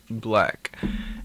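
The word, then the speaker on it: 6LACK: it looks like six lakh but it is pronounced black and he has this is another artist who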